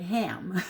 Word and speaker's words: ham: um the mantra ham h-a-m it looks like ham but it's pronounced ham so you can use that in a mantra when you're meditating and the actual tones and vibration of hum again stimulates that vagus nerve and is